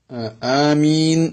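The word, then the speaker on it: آمين: ആമീൻ എന്നതാണ് അതിന്റെ ഉച്ചാരണം.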